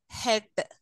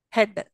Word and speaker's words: head: at least one vowel syllables may have two vowels if they are a pair and one is silent such as uh head okay in head which is the silent syllable there a silent vowel sound there head a is silent very good very good